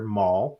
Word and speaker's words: Maul: We're going to show up to Snow City and see our favorite character, Maul, rhymes with Paul, um, wearing a brand new outfit.